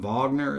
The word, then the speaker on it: Wagner: Wagner is how you say this for opera.